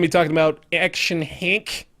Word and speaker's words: Henk: Also going to be talking about Action Henk. It's Henk. It's not Hank. It's not Hank. It's Hank. Hank's It's not Hank. It's not Hank, guys. Rhymes with spank and bank.